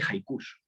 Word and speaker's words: haiku: aquel momento hablaba de haikus en la palabra de hecho hay quien la pronuncia así mira maría moliner en su diccionario dice que hay que pronunciarlo con jota y acentuado en la uv pero bueno la empecé